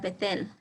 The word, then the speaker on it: Bethel: With the letter bet, we get words like Bethel, Con la palabra bet sacan la palabra Betel, which is pronounced Bet-El, cual se pronuncia Bet-El, which means house of God.